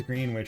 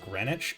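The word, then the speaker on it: Greenwich: we think of like why is green wi pronounced grenwich oh oh yeah you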